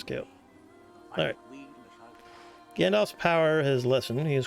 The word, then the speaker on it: Gandalf: Gandalf. Yeah, that's how you pronounce that. I used to want to spell it with an O, but it's an A. Alpha, not Oscar.